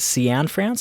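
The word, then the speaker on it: Cianfrance: The first trailer for Derek Can France, I believe is how you pronounce his last name.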